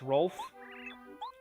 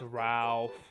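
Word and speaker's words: Rowf: It's Rolf. Ralph, I guess. Oh, it's Ralph. There we go. You have to say it like that, Ralph.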